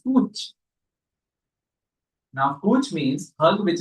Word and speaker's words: cwtch: But it is pronounced as Kuch.